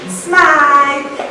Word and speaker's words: Smythe: Diamonds and Clarissa, they thought it would be better if we repronounced our surname Smythe instead of Smith.